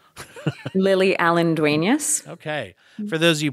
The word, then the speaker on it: Lily Allen-Duenas: how did how do you say your name lily allendueneus okay for those of you podcasters out there